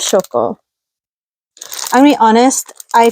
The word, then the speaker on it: Shoko: Is her name Shoko? Am I saying her name wrong? No, it is Shoko.